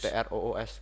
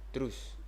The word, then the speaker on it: Truce: Truce. Pronunciation-nya gitu. Terus. TROOS bacanya. Truce.